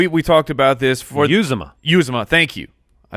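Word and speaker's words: Uzomah: yeah I really hope it's Croft it's it's you Zuma you Zuma okay we've got it seems a official Cincinnati Bengals pronunciation jibe use the front of my face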